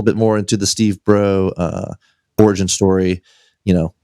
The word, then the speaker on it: Braud: it's uh you know it's Cajun So it's b r a UD D is the way that it's spelled but it's pronounced BR it's like b r e a ux uh is is I